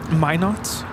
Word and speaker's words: Minot: heading into gu laara it's pronounced Minot Min not North Dakota really 3 kind where